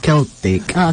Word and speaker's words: Celtic: scottish Oo kasi Oo Ang spelling niyan Yung c c e l t i c pero ang pronoun niyan is keltic keltic sa US dahil